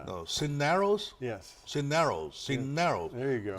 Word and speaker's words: Cisneros: Cineros. There you go. The stress is on the second syllable.